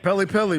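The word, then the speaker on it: Pelle: I just remembered that Pele Larson hit a game winner against us in Summer League, and you bozos don't even know how to say his name. Pele, bro.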